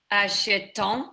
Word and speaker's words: achètent: So remember. So here, this is silent ending, silent ending, all of them basically. Yeah? Silent ending. Yeah. This is gonna be also silent ending, and this is also gonna be silent ending.